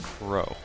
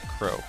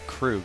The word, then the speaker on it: Kurou: finished it uh kuu which is the main character is pronounced Crow although it's spelled like you would pronounce it Karu k r o u so I apologize for mispronouncing it it's Crow although you can call